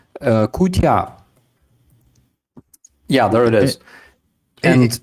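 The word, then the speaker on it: кутя: He said kutia, or it's probably pronounced flibdibdif or something, because you're funny with your pronunciations. What is it? Kutia. Kutya.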